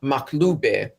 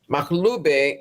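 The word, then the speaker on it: makhloobeh: online and look up maube maube it um it's an Arabic word and if I were to spell it phonetically would be m a k h l o o b e h and it's an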